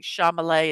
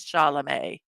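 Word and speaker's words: Chalamet: second Timothy shalam yeah I did say his name right that time I'm I'm always Mi mixing up the m and the L and Shalay instead of shalam shalam yes no yeah that's how you say it so um if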